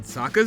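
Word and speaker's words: Sokka: jokes in Saka dialogue my name is Saka rhymes with AA shortly after Saka comes across an apprehensive little girl in the forest he tries to make her feel comfortable with a few jokes the gag about his name is a call back to a haiku competition that his animated counterpart entered that's right I'm Saka it's pronounced with an AA young ladies I rocked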